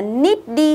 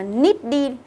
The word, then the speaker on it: needy: Đừng đọc là needy, hiểu chưa? Đọc là needy.